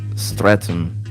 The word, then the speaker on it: Streatham: Streatham pronounced Streatham.